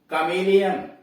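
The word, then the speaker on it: chameleon: Exception, अपवाद, यानी इसका अपवाद भी है, इस नियम का अपवाद है। सी एच ए एम ए एल ई ओ एन, कमेलियन, यहां देखना है ना।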